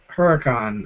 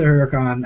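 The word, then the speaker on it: Huracán: thought on the new Huracan uh SC bucks uh it's my buddy Simon um I love the Huracan I know I'm probably mispronouncing it I've heard some people say it's called the uron um anyway I I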